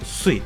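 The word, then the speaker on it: すい: çincesi ui benziyorlar japoncası Japonca kunyomi Japonların hani dilora kendi dillerinin telaffuz şekilleri Mizu Mizu Daha doğrusu Japonca onami ise Sui Çince okunuşa Sui bakın ne kadar benziyor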